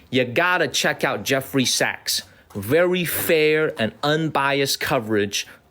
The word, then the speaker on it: Sachs: Jeffrey, Jeffrey Sachs, Sachs, like Goldman Sachs.